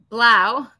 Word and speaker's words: Blau: And I'm pronouncing your name right? Blau, but it means blue, so you're good.